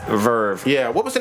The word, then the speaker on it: VRV: product you to say vrv and have her look at you like yo asses ratata - I always thought of ERV because - it's three capital letters it is pronounced Verve yeah what was the